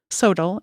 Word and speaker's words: SoTL: This is sometimes abbreviated SOTL, or pronounced SOTL, S-O-T-L.